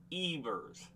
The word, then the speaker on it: Evers: Yeah, it says pronounced Ivers.